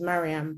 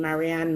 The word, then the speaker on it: Mariam: resend it and apologize people often get my name wrong so um my name's mariam but i guess in the west you have different variations of that name marianne miriam and i've started a